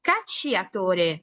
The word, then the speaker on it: cacciatore: Entonces, por eso, si se dan cuenta, yo no digo cacciatore, no, no, no, no, no, yo no estoy pues ahora sí pronunciando la I, estoy solo pronunciando la, A, si se dan cuenta,